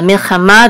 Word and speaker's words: milchama: Now la milchama, the accent is on ma because the trope mark is right here.